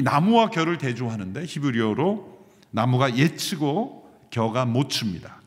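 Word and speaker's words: עֵץ: 이 나무와 겨를 대조하는데 히브리어로 나무가 예츠고 겨가 모츠입니다. 츠 발음으로 운율을 살려서 대조한 것으로 기억을 쉽게 하도록 한 것입니다.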